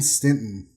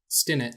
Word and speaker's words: Stinnett: jeff hamasaki hello and stinton stinnett and hello there's no t in the middle of your name is there no i think i